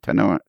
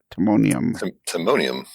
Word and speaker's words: Timonium: Timonium. Timonium.